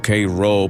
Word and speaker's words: Cairo: Cairo, Illinois, pronunciado como Cairo por los locales, no como la capital de Egipto.